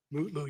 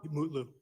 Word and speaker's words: Mutlu: Is it Metloo or Mutlu or how do you pronounce his last name? Mutloo, your honor. Mutlu. Mutloo.